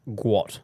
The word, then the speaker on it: Guat: ] googgle G G's actual name is in fact guat so guo T and is pronounced guat guat that Mak and